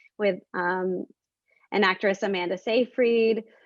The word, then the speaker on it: Seyfried: um an actress amanda seyfried uh actually cyfree i think they said at the academy awards and that's how you say it um and i'm